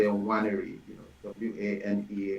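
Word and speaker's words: Nwaneri: Waneri, people find it hard pronouncing my last name because they want to pronounce the first N. So just know that you're free to pronounce my name without the first N, the last name without the first N. So just say Waneri, Waneri.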